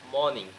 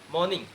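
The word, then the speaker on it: morning: যেমন ধরো তুমি মর্নিং, মর্নিং এর মাঝে আর আছে, পরে আছে তোমার কনসোনান্ট, মর্নিং এর মর্নিং উচ্চারণ হবে না। কি হবে? মর্নিং। কি হবে? মর্নিং।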